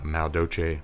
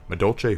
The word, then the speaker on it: Madolche: raptor can stellar sombre this one's pretty awesome mao doce madolche i always say the name wrong madolche who cake the uh second sombre that you